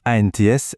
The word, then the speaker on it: ANTS: Alors attention, petit point très important, on prononce bien ANTS lettre par lettre.